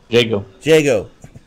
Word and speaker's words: Jago: Is that a long A or a short A? Is that Jago or Jago? Jago.